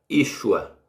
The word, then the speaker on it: Yeshua: aqui sem sinal Mossoró que se pronuncia Yeshua aliás é Yeshua e com sinal massorético